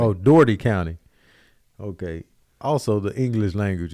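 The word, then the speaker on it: Dougherty: Oh, Doherty County. Okay. Also, the English language is crazy. It's stupid. Doherty County. Because that's how it should have been spelled. DOORTEE. Yep. Doherty. This is Doherty County, Georgia.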